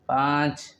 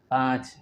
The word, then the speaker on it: پانچ: وبعد ذلك چار چار چار، وبعد ذلك پانچ پانچ پانچ، ونطقه با الف نون ساکن پانچ وچے ساکن أيضا پانچ.